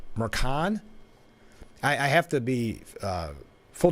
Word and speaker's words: Merchan: I thought it was Merchant, but I heard Jake Tapper yesterday say it Mercan.